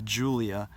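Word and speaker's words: Giulia: the 105 series with the Julia which is not spelled like you would think it's giu li a and that replaced the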